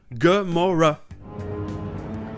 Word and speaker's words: Gamora: Parce que les A se prononcent comme dans Avengers et America. Gamora.